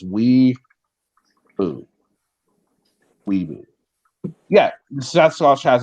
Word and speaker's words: weeaboo: I'll spell it for you guys. It's weeboo.